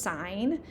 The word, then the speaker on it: sine: So it looks like sin and tan and cos, but this is actually pronounced sine, cosine, and tangent.